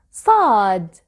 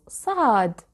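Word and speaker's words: ص: please watch carefully sod this letter sound has no equivalent in english it is similar to the sound of s but it is not the same to pronounce thought you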